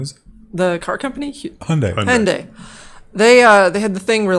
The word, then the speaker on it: Hyundai: How do you pronounce that? I never say it out loud. What is it? The car company? Hyundai.